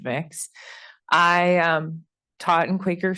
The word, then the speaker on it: Mx: which is often used the non-binary MX um pronounced mix I um taught in